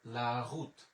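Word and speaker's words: la route: এরপরে এল আ লা, ও ইউ এর উচ্চারণ হচ্ছে রস্যকার, তাহলে রু, এবং এই তের উচ্চারণ হচ্ছে ত, তাহলে লা রুত, লা রুত, লা রুত মানে হচ্ছে রাস্তা।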